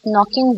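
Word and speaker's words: know: नो में silent words हैं। यस नो में के इज साइलेंट।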